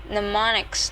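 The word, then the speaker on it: mnemonics: pneumonic devices to make memor uh memorization easier pneumonics the initial am is silent or clues of any kind that help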